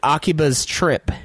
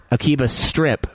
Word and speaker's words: Akiba's Trip: The Akiba's Trip, which, of course, we've been mispronouncing as Akiba's Strip for...